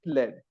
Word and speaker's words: lead: of the book it's uh lead lead it's pronounced lead all right so yeah lead okay now you know it led so since you're using a different periodic table